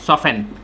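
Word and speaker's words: soften: सॉफेन। सॉफेन में T silent है।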